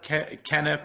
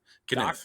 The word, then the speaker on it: Kenniff: Yep, Kenniff. You know, my mom says Kenniff. My dad says Kenniff. I go with my dad's pronunciation. So you hit it right on the head, Jack. Kenniff.